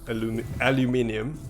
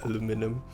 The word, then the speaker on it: aluminium: I'm not gonna be American, call it aluminum. Aluminium. Yes. Oh right. So I've been pronouncing it in the American style then. Aluminum? Actually, I don't know. Aluminum. Yeah. Yeah. There is a U in it that Aluminium. people tend to forget.